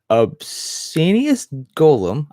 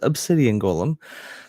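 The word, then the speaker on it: Obsianus Golem: I have been mispronouncing this card my entire life playing this game. Wow. Okay. Obscenius Golem. I always thought it was Obsidian Golem because I didn't read the card.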